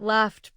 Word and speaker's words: laughed: But laughed proves that spelling can mislead. GH represents an F sound at the end of laugh. F is voiceless, so laughed takes T.